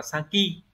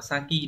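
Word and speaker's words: 先: đứng cuối đọc là Saki đọc là Saki để tạo ra từ ví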